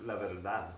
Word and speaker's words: la verdad: Many Americans mispronounce it by not understanding that the D is pronounced differently in Spanish. It's pronounced more as a TH. When the D starts a word, it can sound like an American D, like in Buenos Dias, but when it's starting the second syllable of a word, it sounds like a th.